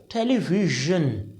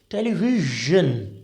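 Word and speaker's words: television: शब्द देखो आप इसको आप क्या बोलोगे देखो टेलीविजन बहुत अजीब लगेगा आपको टेलीविजन तो ना ज है ना जा है टेलीविजन राइट ज देखो एक अलग ही साउंड आ रहा है ना ये तीसरा साउंड होता है जो हिंदी में एजिस्ट ही नहीं करता तो जब वो हिंदी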